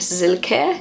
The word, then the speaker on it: Silke: my daughter's kindergarten, but the way Germans pronounce it is more like Silke, sort of like with a Z rather than an S.